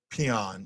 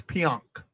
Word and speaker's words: Pionk: Oh, the announcer is saying peon. It's pionk. Pionk. You're not listening.